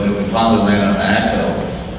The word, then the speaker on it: EQO: we finally landed on Echo. But of course, all of the domains were gone except this one that said EQO. So we bought it, only to realize that everybody and their brother would actually pronounce it in the wrong way.